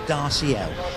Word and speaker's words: Darcel: I've just been told the name we're look we've been looking for upon pronunciation is Darcel. Darcy. Brilliant. Darcy with an L on the end.